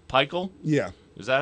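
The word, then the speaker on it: Pikiell: You don't want to be, I don't know how to pronounce his name, Pikel? Yeah. Is that how you say it? Pikel, yeah.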